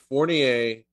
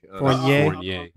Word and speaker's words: Fournier: He's French, Kyle. You're like Fournier. No, I'm getting phonetic. Fournier. It's like beignet. It's like beignet, but Fournier.